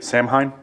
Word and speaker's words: Samhain: I think that comes from the whole, I don't know how it's pronounced, but the sort of Wiccan holiday. Say it again? Samhain.